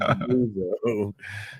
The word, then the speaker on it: Debuzo: I always going with Debuzo. How am I doing on the pronunciation of that one? All right, got one right.